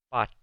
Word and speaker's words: bought: Bought. Se escribe con UGH, pero esa UGH en medio de la palabra no se pronuncia.